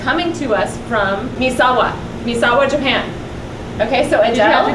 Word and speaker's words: Misawa: week get this it's coming to us from Misawa Misawa Japan okay so ad did you have to Google it how I did I actually Googled how to pronounce that M Misawa Japan Misawa Misawa very good okay anyways so it's coming to